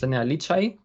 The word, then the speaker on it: Enea Licaj: My name is Enea Licaj. That's the correct pronunciation, but no worries, everybody pronounce it wrong.